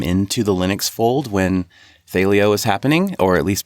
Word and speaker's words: Thelio: Well, it is Thelio. Thelio. Yeah, I mispronounce it all the time.